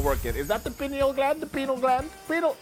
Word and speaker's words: pineal: The liver, the kidney, the lung, or the penal gland or pineal gland if you want to pronounce it the correct way.